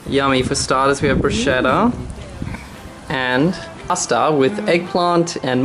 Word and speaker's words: bruschetta: I've chosen on Italian, and I'm going to make a pasta and bruschetta. It's pronounced bruschetta.